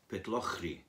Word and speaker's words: Pitlochry: Peter no hungry okay remember not to add a syllable Pitlochry good well I think